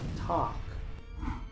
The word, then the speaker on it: talk: Muchos pronuncian esta palabra talk, pero aquí la L es muda, así que solo se pronuncia la t, la a y la k. Esta palabra se pronuncia talk, palabra número cinco.